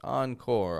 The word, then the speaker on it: encore: We're not using that kind of an R. We're using an English R. Encore. And so we take the French first half, but an American second half.